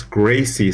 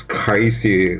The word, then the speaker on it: Gracie: I know that in Brazilian Portuguese it is kind of like sound, not R sound, so it's Gracie, somewhat like this.